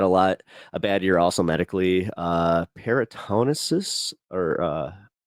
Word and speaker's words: peritonitis: Peritonitis or peritonus. I don't know how to say it. Peritonitis.